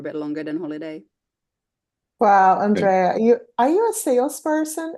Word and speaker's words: Andrea: name is and uh how can I pronounce it correctly Andre my name yeah okay so you want to say it's Andrea Andrea okay and Oh you mean oh yes sorry